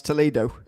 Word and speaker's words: Toledo: We're looking forward to it, absolutely, and thanks for clarifying it's Toledo. I've been pronouncing it wrong.